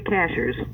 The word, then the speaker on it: Cashiers: It's spelled like a cashier at the store, but you don't pronounce it that way? The natives say cashers.